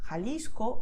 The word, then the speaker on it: Jalisco: So you just expel the air and that's it, okay? So you feel like the hot air coming out of your mouth. So most Spanish speakers, especially in Latin America, they would pronounce these words as you can hear now. Jalisco, Ojeda, Jipijapa, Tajo, Tajuña, Gerona, Gijón. Okay, and that's totally correct.